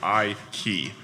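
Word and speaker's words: Ikey: in Flint Michigan and that's the way you pronounce my last name is she would point to her I and then twist a key so I key so that was the way all the kids would always uh pronounce it they would always really exaggerate it they would go Mrs I key kind of thing so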